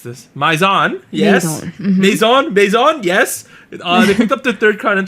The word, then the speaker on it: Maison: last week dream catchers okay how do i pronounce this maizon yes maison maison yes they picked up the third crown